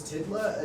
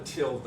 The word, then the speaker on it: tilde: Is Tidla another character, or is that just tilde pronounced wrong, or is tilde actually called a Tidla? I'm tired of being confused about that. This thing, it's called a tilde.